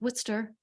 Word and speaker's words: Worcester: a Bachelor's of Arts Bachelor of Arts at Worcester State University and yes people that is pronounced Worcester even though it looks like Worchester right you